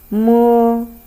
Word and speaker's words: mo: Then let the voice come out of your mouth. Mo, mo. So if you want to compare this pronunciation with English, it's very similar when you say man.